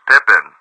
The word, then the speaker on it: Pepin: See, Pepin. It can be pronounced Pippin.